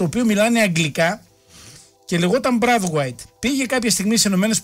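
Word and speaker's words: Braithwaite: Ο Μπρέθουαιτ γράφεται το όνομά του με BRAI, έτσι έχει καθιερωθεί. Μάρτιν Μπρέθουαιτ, και διαβάζεται έτσι. Όπως γράφει ο Νίκος Μπουζιονέλος, ο συνάδελφος που το έχει ψάξει, στα δανέζικα, επειδή ο πατέρας του ήταν Άγγλος και η μάνα του Δανέζα, τον προφέραν Μπράθουαιτ. Το σωστό, λέει, είναι ότι κανονικά το όνομά του είναι Μπράθουαιτ, δεν υπήρχε το I.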